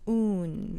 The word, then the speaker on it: Oon: and it is called un and that is spelled o o n if you take the word bassoon and then take the word bass out of it you're left with un pardon me for interjecting